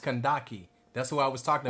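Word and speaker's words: Kandake: So what you said, Candice, is pronounced Kandaki.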